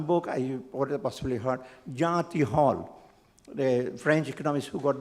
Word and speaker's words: Tirole: I remember one book, I possibly heard, Jean Tirole, the French economist who got the Nobel Prize in 2050. He's pronounced as Tirole, but it is not pronounced as Tirole. It's called Tirole.